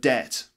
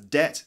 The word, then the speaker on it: debt: 37 is the word debt debt it's got a silent B as well that's debt look at look at